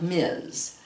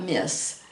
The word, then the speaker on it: Ms.: and this is pronounced Ms., not Miss. Miss is, this is a combination between Miss and Mrs., so it's pronounced Ms.